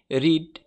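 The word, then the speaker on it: read: এর পাশ ফর্ম হচ্ছে এখন কিন্তু রিড বলা যাবে না বানান এক কিন্তু উচ্চারণ হবে রেড পাশ পারিস ফলেও উচ্চারণ হবে রেড তা রিডের পাশ ফর্ম হচ্ছে রেড পাশ পারিস হচ্ছে রেড বানান কিন্তু যা আছে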